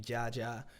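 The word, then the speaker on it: Jaja00: Rap name Jaja. It's 2 zeros at the end, but you don't pronounce the zeros.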